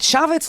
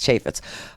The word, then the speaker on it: Chaffetz: So Trump looks like an MC most of the time, and Chavez looks like, and I know I don't say his name right, it's Chaffetz, but Chavez says, he says, look at him.